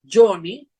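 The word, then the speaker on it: Joni: La explicación era que no es Lai, sino es Johnny, pero no Johnny como se escribe en inglés, sino es J-O-N-I, Johnny, que se puede parecer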